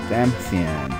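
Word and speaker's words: Damcyan: Edward is going to rebuild Damasian, which I still can't pronounce right. They meant it to be Damasian, but something like Damascus. It's like they said Dam and then Cyan in the same word.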